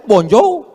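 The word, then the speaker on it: bonjour: Emangnya bahasa Perancis mudah tulisannya bon jowur? Bacanya bonjou. Bon soir, bonsa.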